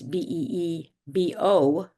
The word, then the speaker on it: Bibeau: So um and I understand that it's a French name.